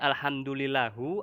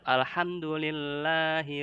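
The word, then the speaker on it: الحمد لله: Walaupun ini alhamdulillahi segala puji bagi Allah, alhamdulillahu segala puji bagi Allah sama artinya, tapi mengubah harokat atau mengubah Al-Qur'an dibacanya alhamdulillahu atau alhamdulillaha itu haram. Tetap alhamdulillahi rabbil alamin, ya.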